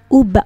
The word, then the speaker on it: uba: u instead of ve, because b, the next sound is the sound produced by lips coming together. So barakevet uba autobus, literally in train and in bus, because be means in, but we pronounce it as ba here.